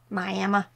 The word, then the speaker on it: Miami: have a town there called that but it's pronounced miam Miama all right let's see I want to get